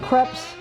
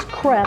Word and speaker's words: crêpe: I've even made the crepes, and yes, that's how you pronounce them. It's crêpe, rhymes with yep, So not crepe.